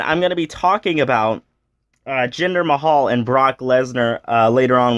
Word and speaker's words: Jinder Mahal: matches first of all he mispronounced gender Mahal's name gender may Hall I just thought that